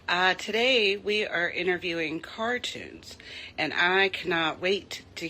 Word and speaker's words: Car2unes: But yeah, so how did you come up with your name Cartoons? Am I saying it right? Yes. Yes, you were saying that correct.